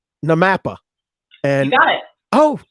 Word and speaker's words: NAMAPA: there's a blooper reel of people trying to pronounce their acronyms. So I'm just going to say NAMAPA.